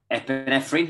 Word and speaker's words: epinephrine: do nasal breathing our body our kidneys release epinephrine is how you say it yes yeah which